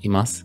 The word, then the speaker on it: います: unvoiced vow so it sounds like more like imas often but some people and it depends on